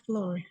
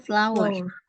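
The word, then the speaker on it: flour: ini gini sebentar FL eh Flor sih cara bacanya apa tulisannya Betul tapi cara bacanya masih kurang tepat ya cara bacanya flower flower and he FL his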